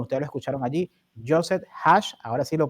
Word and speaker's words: Hage: Y muy agradecido, bueno, ustedes lo escucharon allí, Joseph Hash, ahora sí lo pronuncié correctamente.